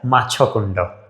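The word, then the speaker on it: Machkund: टू be more precise in pronunciation, क्या है? माछाकुंडा। Okay, माछाकुंडा में generally hydro electric power station है।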